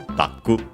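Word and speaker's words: ダック: I wanted to check Daku, the accent, just to be sure if available. Yeah, it is, and it's accented on the first syllable as expected, so Daku.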